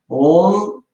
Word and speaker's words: Om: Om, there is a fourth syllable. Auma, fourth syllable is the silence.